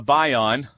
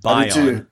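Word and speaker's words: Bayon: All right, let's go over to Bion, and I wrote it out phonetically so I'd say it right. Bion, B-U-Y-O-N.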